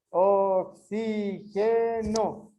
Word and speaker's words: oxígeno: Todas son acentuadas las que tienen a sílaba tónica más fuerte en la antepenúltima sílaba.